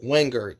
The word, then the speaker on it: Wingard: Andrew Wingard is how you pronounce his last name.